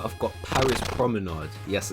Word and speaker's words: Promenade: Top 2 now, and at number 2 I've got Paris Promenade. Yes, I said Promenade and not Promenade. I realised that was the wrong pronunciation.